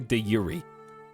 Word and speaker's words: de jure: Yes, it's originally de Yuri.